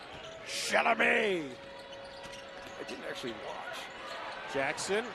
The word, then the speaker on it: Chalamet: You got to pronounce it like Adam Sandler did. Chalamet.